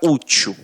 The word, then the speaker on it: útil: A gente pega aqui a palavra útil.